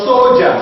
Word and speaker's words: soldier: not pronounced so what soldier so the D is pronoun as what as J now another sound is